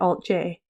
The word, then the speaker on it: Alt-J: our band name but we chose to pronounce it Alt J because we knew we were being played on the radio you really need to